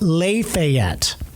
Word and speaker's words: Lafayette: Um there was a a town that was spelled exactly like Lafayette in Lafayette, Indiana was spelled, but it was pronounced Le Fet.